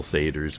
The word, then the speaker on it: satyr: And then as I thought about it, okay, I guess if you accent the first syllable, Skull Satyrs, Crusaders, okay.